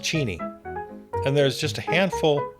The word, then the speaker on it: Cheney: It's actually pronounced Cheni.